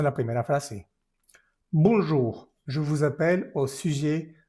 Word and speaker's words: bonjour: Entonces esto se dice boom. No pronuncias esa n, solo es la bondido nasal. Bom, bom. Y luego la siguiente sílaba que es jug. Jug. Bun. Bonjour, no es n bonjour.